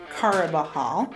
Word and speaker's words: Carabajal: empire state college so you pronounce my name dia cara bahal um the j is like jose so you you pronounce it as an h um it's easier to